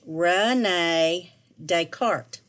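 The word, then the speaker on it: René Descartes: a french name his name was renee descartes pronounced renee descartes this may sound like a funny name to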